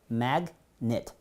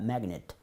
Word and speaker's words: magnet: 발음교는 magnet. 이런 경우는 그를 발음해 줍니다. magnet.